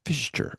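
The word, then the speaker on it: Fischer: Yeah, I was like, you don't pronounce the C, guys. Fisher.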